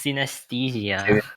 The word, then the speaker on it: synesthesia: Was it Pronounce it again. synesthesia? It's synesthesia.